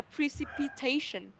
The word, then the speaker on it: precipitation: Và mình sẽ nhấn vào trọng âm thứ tư. Trọng âm thứ tư, yes, of course, trọng âm thứ tư ạ, là precipitation. Okay.